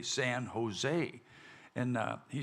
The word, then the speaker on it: San Jose: uh this town called San josi and he goes oh Ma'am he said that's that's pronounced Jose he said in Spanish J sounds like H so it's not Josie it's it's Jose San Jose and uh he said